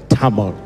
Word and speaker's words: Tamil: out I need to go with time or Tamil you say Tamil that's what you say table